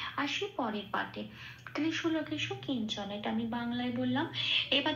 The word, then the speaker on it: কিঞ্চন: শব্দটা পেলাম কিঞ্চনা। তাহলে এই পাঠে সংস্কৃত উচ্চারণ পেলাম ত্রিষু লোকেষু কিঞ্চন।